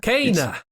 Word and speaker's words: Kena: Kena. All right, Kane pronounced it.